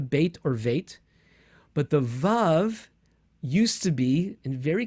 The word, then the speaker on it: vav: So today we pronounce it vav, like a V, as in vine. But it wasn't that long ago. And there are still people who don't pronounce the vav as a vav, but as a wow, with a w sound.